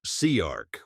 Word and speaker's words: CIARC: The Central Illinois Agricultural Repair Cooperative, CIARC, which everyone pronounced Searc within a week, was formally incorporated on August 14th, 2023, as a 501 c and 12 agricultural cooperative under Illinois state law.